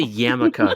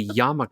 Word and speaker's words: yarmulke: I have one upstairs, and it's not a yarmulke, goddammit. It's a yarmulke. You're saying it wrong, Harmony.